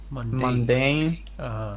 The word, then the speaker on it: mundane: coverage to lurid reporting correction mundane Monday second syllable it means yeah the